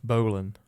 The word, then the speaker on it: Boleyn: And I thought that one of his wives, Anne Boleyn, I think it's pronounced Berlin, but I thought it was Berlin, like Berlin. Berlin. Yeah. But it's not. It's Boleyn.